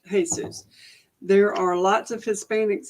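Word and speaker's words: Jesús: was that Hispanics named their kids Jesus pronounced Jesus there are lots of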